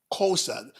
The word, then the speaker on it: Xhosa: Xhosa. Kosa. That's Xhosa. Xosa. Yes. Kosa. Oh, okay. Good. So, but it's a click.